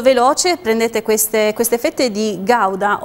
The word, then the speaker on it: Gouda: Prendi queste fette di Gouda o Guda. Non lo so davvero, si pronuncia in molti modi. So che in olandese si chiama "hoda ".